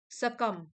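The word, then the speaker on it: succumb: सकम वर्ब है, B silent है, हार मान लेना।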